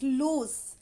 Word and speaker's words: loose: means the pronunciation is loose in the end there is s sound whereas in the lose